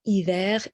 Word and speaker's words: hiver: However, I apologize, but hiver is fidel to its word, to what it looks like. We are pronouncing the R at the end. Hiver, R is pronounced.